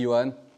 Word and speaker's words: Johann: Je m'appelle Johan, ça s'écrit Johan, mais ça se dit Johan, parce que tout à l'heure il y a eu un petit micmac, mais ça arrive à tout le monde.